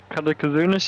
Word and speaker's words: Katakazunas: We had Christensen, how do you pronounce that? Katakazunas? Yeah, Katakazunas, yep. Katakazunas and Sagasa in Heat 1 on the podium.